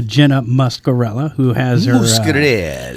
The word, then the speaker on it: Muscarella: Muscarella. Pronunciation.